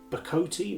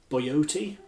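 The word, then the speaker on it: bocote: Now, most people call this wood bacote. Now, I think it's pronounced correctly boyote, but it's one of those words where if you say boyote, people think either la-di-da or what on earth is he talking about, because everybody says bacote.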